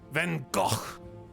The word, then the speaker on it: Van Gogh: we decided that that his name is Van Gogh Van Gogh there we go God I gotta emphasize the throat choking noise do you need